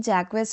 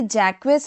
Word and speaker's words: Jacques: और ये जैक्वस नहीं है। एक्चुअल में यहां से क्वेस क्या होता है? आपका साइलेंट होता है। और जे को हम लोग फ्रेंच में जेड की तरह प्रोनाउंस किया प्रोनाउंस करते हैं। यानी कि जैक और यह हमारा क्या है?